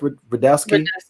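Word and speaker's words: Rudetsky: show um with seth rodeosky how do you say his name seth rodeowski yes the second time um yeah you know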